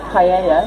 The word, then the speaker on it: paella: We've had a whole discussion about paella, which you pronounce as paella in Spanish, which irritates him when I say paella, because we're British, so we pronounce the L.